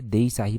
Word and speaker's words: देई साहिबा: और जो एक और इसका प्रोनाउंसिएशन की जाती है वो देई यहां पर मैं लिख देता हूं।